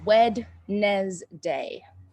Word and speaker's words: Wednesday: brendon yes wednesday and remember we spell it weird it's not spelled how you think it's spelled wednesday november 17 2021 yeah i'll put it in the chat there you go it's wed nez day wednesday wednesday there are a